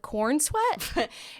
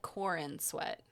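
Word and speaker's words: Corenswet: decided to stick with Corn Sweat. Well, it's spelled weirdly. Like, it's not like you look at it and it's like Corn Sweat. It looks like Corin Sweat. It's SWET.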